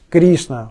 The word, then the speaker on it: Кришна: ударением она быть долгой кришна ударение на и а это уже другое